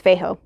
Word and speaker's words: Feijo: which i'm super excited i'm assuming the j is silent it's f f-e-j-o so i'm assuming it's feijo um but it's alien